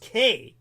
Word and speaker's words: chi: the Greek letter Chi which everybody would think is chai like Omega chai but it's pronounced K it's really K uh